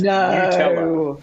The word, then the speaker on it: Nutella: It's Nutella. And that's according to Nutella's own website, where they break it down. Nutella as in N-E-W. Nutella.